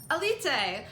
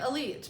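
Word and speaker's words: Élite: out this year that I was saying a leap seemed wrong because I was pronouncing it elite but that is apparently not how you do it according to Netflix so Aleta is basically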